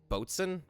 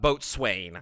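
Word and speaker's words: boatswain: Is it I think it's boaten is how you say it. because it's not boat swain. I know that's wrong.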